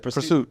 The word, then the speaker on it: PRST: Pursuit.